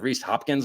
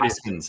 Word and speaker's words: Hoskins: there's a ree Hawkins or re probably miss pronouncing name Reese Hopkins I guess from the Phillies right Hoskins Hoskins Hoskins see I have no business buying